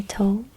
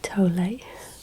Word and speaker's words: Tolle: I say tall. I think the correct pronunciation may be tole, but um I'm sure you'll put me straight on that one.